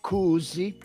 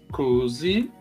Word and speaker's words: kuusi: Em finlandês é Kuusi. Kuusi.